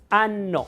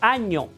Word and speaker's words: año: nosotros la pronunciamos, el fonema es, entonces nosotros decimos año, no año, ano, sino año. Bueno, pues entonces es in ano en latín y de este ocabuinaldo. ¿Te has fijado que cuando termina un año se cuando tenemos una